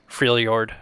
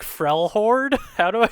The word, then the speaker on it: Freljord: I never pronounced that correctly. Even in my mind when I'm reading it, I'm just like Frelhord. Oh no! Yeah, it's like based off of like Nordic and Slavic languages.